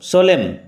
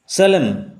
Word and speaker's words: solemn: অন a certain সোলেম ওকেজেন, সোলেম উচ্চারণ লক্ষ্য করো, সোলেম, এন উইল রিমেন সাইলেন্ট, সোলেম ওকেজেন, সোলেম।